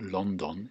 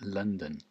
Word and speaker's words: London: It's not London. It's London. London. What's the difference? London. There isn't any difference, is there, really? Just stress on the first one and not on the second one.